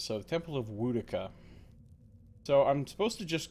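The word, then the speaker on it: Woedica: I keep saying Wodica. I actually know that it's supposed to be pronounced Wodica, based on what the voice actor, how the voice actor pronounces. So the Temple of Wodica.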